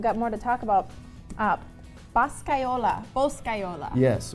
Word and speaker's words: Boscaiola: Boscaiola. Yes, Say it right. Boscaiola, what that means in Italy, it means like a bosco, a forest.